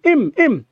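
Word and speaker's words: him: হিম, আপনি কি জানেন হিমের কত সুন্দর সুন্দর উচ্চারণ হয়? হিম, ইম, আই নো হিম। হিমের অনেকগুলো উচ্চারণ আছে। হিমের উচ্চারণ হিম, হিমের উচ্চারণ ইম। হিমকে চাইলে আপনি উচ্চারণ করতে পারবেন ইম।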